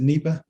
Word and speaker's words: Nipah: the the nipa virus is that how you pronounce it neiba yes okay so as i understand it there